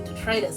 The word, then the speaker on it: detritus: I didn't realize until like after I was pitching the line at people that the pronunciation is actually detritus, and that doesn't scan.